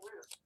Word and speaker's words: Route: it's root 66 so why would you say root is it roote 66 or Route 66 oh I didn't tweet